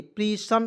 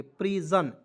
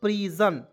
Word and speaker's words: prison: यहाँ देखिए प्रीसन कोई शब्द नहीं को, इसलिए एस का उच्चारण यहाँ पे ज के रूप में करेंगे प्रीजन, तो PRISON क्या पढ़ेंगे दोस्तों प्रीजन।